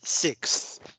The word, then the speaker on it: sixth: fourth fifth Etc um the one that is hardest to pronounce is six because you really have to get all of those sounds in right you you have the K you have the S and you have the th all of these are part